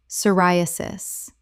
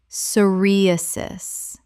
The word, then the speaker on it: psoriasis: Psoriasis. Common mispronunciation. Soriasis. Correct pronunciation. Psoriasis. The p is completely silent. Four syllables with stress on the second.